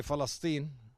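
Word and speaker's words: فلسطين: years old you know we say festine okay festin so do you spell it the same though with the p no with an F okay festine or Philistine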